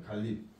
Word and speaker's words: 갈잎: 이렇게 교체 한 번, 첨가 한 번, 교체 한 번 해서 3번의 용도들이 발생합니다. 그래서 마지막 최종 발음은 갈립.